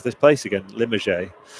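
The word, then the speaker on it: Limoges: Limmerge or Limog. I'm sure it's not Limog, but that's how it's spelled.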